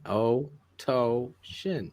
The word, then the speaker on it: Philatosian: I struggle with Philatosian? It rhymes with lotion. You say it like that. Oh, Phil. Try it. Phil Lotion? Phil Lotion. O toe and a shin. O toe shin.